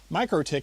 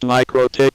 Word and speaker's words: MikroTik: I still insist MikroTik should rhyme with necrotic.